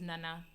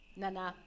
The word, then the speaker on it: Nana: But it's the correct pronunciation is Nana. Nana.